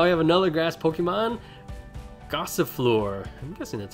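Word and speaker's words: Gossifleur: all right now I have another grass pokemon gossip floor that's how you say it and we're gonna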